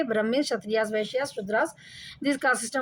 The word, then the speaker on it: क्षत्रिय: क्षत्रियास, इसमें के साइलेंट रहता, एंड वैश्यास एंड शूद्रास.